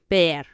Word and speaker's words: ver: v r with vision bear bear to see the v in Spanish has the same sound as the b v